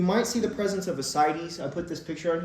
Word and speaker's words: ascites: spell ascites okay so don't call it ask kites or something like that it's ascites um yeah so you